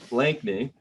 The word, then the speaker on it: Blakney: So I am here today with Ray Blakney. That's how you say it, right? Blakney. Yeah. I'm known for my worst pronunciations.